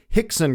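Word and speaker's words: Rickson: career Journey Etc is the RS are pronounced like H's so horon is actually R Hixon is actually r i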